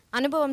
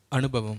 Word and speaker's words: அனுபவம்: அது மாதிரி அனுபவம் சொல்லுங்க. அனுபவம். அணு, அணுனா குண்டு பாம், அது வேண்டாம். அனுபவம். அனுபவம். சரி, வல்லினம் மெல்லினம்லாம் பார்த்துக்கோங்க, ரொம்ப முக்கியம்.